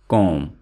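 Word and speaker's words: comb: यहाँ पे मैंने बी को इसलिए मेंशन किया है क्योंकि बी यहाँ पे साइलेंट है, बी को हम नहीं पढ़ेंगे, तो ये वर्ड है कॉम, कॉम हेयर।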